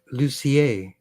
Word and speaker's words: Lucier: or anyone else Oto my name is lucier as it's spelled l u c i e r French story be told I never pronounced it right either until I took French so there you go